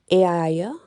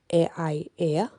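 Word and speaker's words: Aeaea: in the island of, now it can be pronounced in a few ways, Aia or Aia. It just depends how it's pronounced, but it's A-E-A-E-A.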